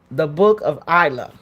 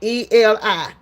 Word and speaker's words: Eli: here that was kind of the book of Isla, Elia. Right? Am I saying it right, Diane? Eli.